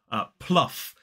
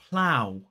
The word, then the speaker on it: plough: So this one is plow. Plow. It's p-l-ow. Plow. It's the same vowel sound that exists in the word how.